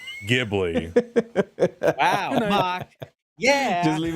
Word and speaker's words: Ghibli: How do you pronounce Ghibli? It's Ghibli.